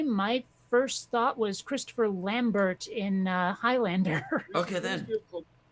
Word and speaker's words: Lambert: first thought was Christopher Lambert of course he probably pronounces it all fruity like lamb bear but